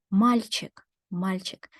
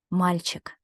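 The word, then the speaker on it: мальчик: must sound softer and I have to say mild chick that's the right way to read it let's try together malchik amazing and that's the hard sign what it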